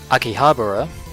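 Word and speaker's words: 秋葉原: and the Funimation dub and yes it is Akihabara I can finally pronounce it I don't know why I kept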